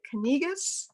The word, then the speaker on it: Kanegis: Is it Kanegis? Can you correct Yes, me it's here? Kanegis, and Kanegis. Okay, I got it wrong.